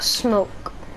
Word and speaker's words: SMOAK: It's spelled SMOAK, but it can be pronounced smoke. It can, but I don't want it to be.